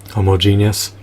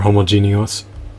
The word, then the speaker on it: homogeneous: So I'll likely procure more doppelgangers, or more carbon copies, or more homogeneous, or homogeneous. How do you pronounce it again? Homogeneous. I believe the E has to be pronounced.